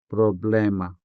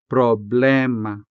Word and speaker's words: problema: The same goes for problema problema, which can be said as problema problema.